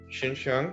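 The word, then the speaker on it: Xinxiang: we are in the little town is called shinshang which is spelled sorry x i n x i n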